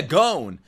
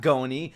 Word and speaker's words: Gon: Not Gon. Not Goni. I don't know why motherfuckers made fun of me when I called him Gon. That's his name. When you hear Killua say his name, he's not like Gon. He says Gon. Gon.